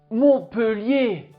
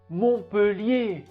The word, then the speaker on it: Montpellier: y à un thé mais on ne le prononce pas montpellier montpellier il y a beaucoup d'écoles beaucoup d'universités à